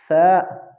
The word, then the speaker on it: ثا: یاد رکھنا چاہیے کہ ثا زبان کی نوک اور اوپر کے دانتوں کے کناروں کے ملنے سے ادا ہوتے ہیں، اس لیے اس کی تلفظ میں ذرا کوشش کرے۔ اور دوسری بات، بعض